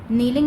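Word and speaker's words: kneeling: IS is mean है, KNEEL नील, ING इंग नीलिंग में भी जो K है वो साइलेंट है, K की साउंड नहीं आएगी।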